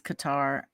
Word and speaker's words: Qatar: CUO a good tryo Qatar but it is Qatar um spelled q a t a r so